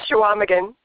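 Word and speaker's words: Chequamegon: you're gonna have to tell us how to pronounce that Claire yours what is it it's called shaaman thank you shaaman bay on the shores of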